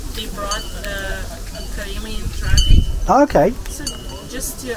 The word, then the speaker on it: Karaim: And before I came here, I started learning about, I can't pronounce it, the Karaim? Karaimi.